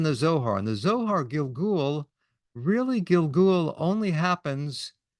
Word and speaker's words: gilgul: all the Hebrew word is very colorful word Gil Gul you could spell it g i l g l gilgul literally